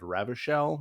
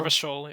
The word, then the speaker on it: Revachol: you're a police officer in an area called Ravishell. Did I say that correctly? Rivishol. Revachol, yeah.